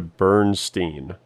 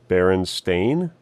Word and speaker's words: Berenstain: yeah I always remember people saying like the Bernstein the Bernstein bears but it looks like the correct pronunciation is Berenstain yeah I always thought it was steam as